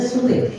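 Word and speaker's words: surae: Sure bacanya sure. Sure bukan suai bukan su ini menganut kayak Korea.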